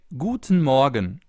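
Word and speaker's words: Guten Morgen: In the morning, for example, you say Guten Morgan.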